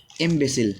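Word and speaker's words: imbecile: लिखा हुआ है इनविसिल, क्या लिखा हुआ है, इम्बेसिल, क्या लिखा हुआ है, इम्बेसिल, थोड़ा प्रोनाउंसिएशन में दिक्कत होगी, कोई दिक्कत नहीं, इसको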